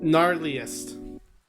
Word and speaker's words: gnarliest: the g okay the the the g is silent i got it well i sent it in on discord but there is no g what do you talk gnarliest oh yes you specify